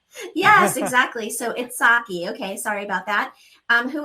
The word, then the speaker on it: Itshaki: Am I saying your name right? Itshaki? It's pronounced Itshaki, but it's totally fine.